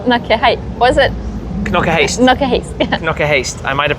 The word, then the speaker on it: Knokke-Heist: Knokke-Heist. Yeah. Knokke-Heist. I might have pronounced it wrong earlier in the video or in the Shmuseum 50 video.